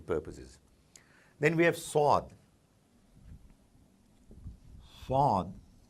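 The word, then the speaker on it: صاد: Swad is basically Swad, S with a dot, and when it's written, it's S with a dot underneath it. So it's not like Seen, Saad, it's Swad, but a little deeper, viscous, not quite as dilute, call it deep.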